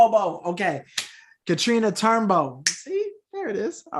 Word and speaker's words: Turnbow: Am I saying the last name wrong? Bow. B-O-W. Bow. Bow? Bow. Katrina Turnbow. Bow. Okay. Katrina Turnbow.